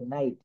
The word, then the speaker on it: নাইট: অংশটুকুর উচ্চারণ আই হবে আই জি এইচ এখানে আমরা একটু দেখি এন আই জি এইচ টি প্রত্যেকটা জায়গায় একই সঙ্গে থাকবে আই জি এইচ একসঙ্গে থাকবে দেখেন এখানে আছে নাইট নাইট বানান কি এন